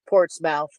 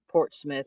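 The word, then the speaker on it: Portsmouth: she's norfol norfol or ports port's mouth Port Smith Portmouth however you want to pronounce it it's I'll never stop calling it port's mouth because I like to give her a hard time about it because of the way it's spelled there is a Black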